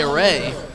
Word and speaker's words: Array: So we were led awry by saying Arai. It's actually Array.